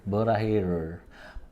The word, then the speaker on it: 보라해: Borahe Borahe. I mean, you pronounce this 보라해를 Borahe.